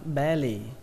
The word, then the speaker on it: belly: Ở đây trọng âm của nó rơi vào âm âm đầu tiên, âm be, belly. Ở đây có hai chữ L nhưng mà các bạn cứ tưởng tượng là có một chữ L thôi, belly, belly.